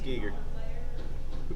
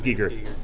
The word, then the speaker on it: Giger: Hoskins we've lost HR Giger G there not pronounced gger I think I think I think told me it's Giger who did you did yes it is it is Giger And The Fool on